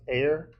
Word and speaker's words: Aer: It's AER. I assume that's pronounced AIR. The AIR simulator is simulating a quantum computer on your computer so you can run everything locally.